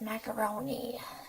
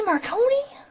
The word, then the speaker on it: Marconi: Try not to mispronounce his name as Macaroni. Did you say Marconi?